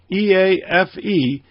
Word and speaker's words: EAFE: And the other one, the MSCI EAFE, and that's how it's pronounced, by the way, EAFE, stands for Europe, Australia, and the Far East.